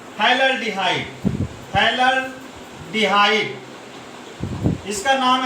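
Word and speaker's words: phthalaldehyde: PH silent है, pH silent है, तो इसे हम बोलते हैं थैलल्डिहाइड।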